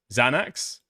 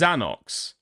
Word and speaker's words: Xanax: I don't know if it's pronounced Xanox.